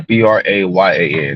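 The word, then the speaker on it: Brayan: But his name was like Brian, Hispanic guy, Brayyan. That's how you pronounce his first name.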